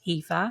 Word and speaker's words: Aoife: of my name, which is Aoife, and it's pronounced Aoife.